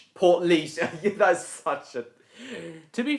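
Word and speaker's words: Portlaoise: Ay portalos. Portleas. Port leash.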